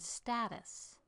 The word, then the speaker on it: status: And then there's the word status. Stressed syllable and then unstressed. Status.